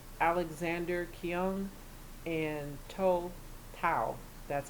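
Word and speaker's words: Tou Thao: three officers Thomas Lane J Alexander King and told Powell that's how you pronounce his name he's the officer who stood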